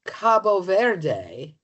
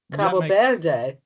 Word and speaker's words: Cabo Verde: And I'm finding that those who live there, who I'm not going to try to pronounce, are more likely to call it Cabo Verde. Cabo Verde.